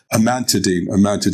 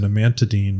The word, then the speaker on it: amantadine: Amantadine. I pronounce.